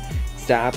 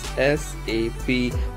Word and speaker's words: SAP: SAP is pronounced as individual letters SAP, not as word SAP.